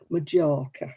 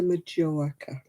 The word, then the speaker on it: Majorca: how it was pronounced majorca yeah i'm going to majoraca because they thought they had to pronounce the j yeah times have rolled